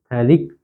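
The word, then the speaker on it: phthalic: यहां पे P silent होता है। कई बच्चे गलती करते हैं। तो आप थोड़ा ध्यान से पढ़िएगा कि जो थैलिक एसिड होता है वहां पे पी साइलेंट होता है। बाकी आगे से उसको पढ़ना शुरू किया जाता है। पर लिखा पी जरूर जाता है।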